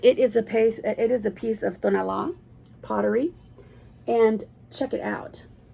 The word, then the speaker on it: Tonalá: It's Tonalá.